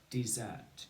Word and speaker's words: dessert: On his dessert. Good. So over to you. On his dessert. And we say on his dessert. Two syllables. Dessert. Dessert. D, E, D, Z, T, Zert. Dessert. Dessert.